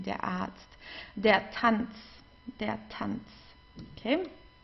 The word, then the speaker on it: Arzt: Here we have a vowel and then comes an R. Okay, so in this case we pronounce the R just like an A. Arzt, a long A. Der Arzt.